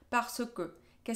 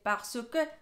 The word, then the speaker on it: parce que: en la vida cotidiana no vas a escuchar el parce que, vas a escuchar parce que. Sí, hacemos la contracción parce que. Parce que. Es decir, que la R no la pronunciamos en la vida cotidiana.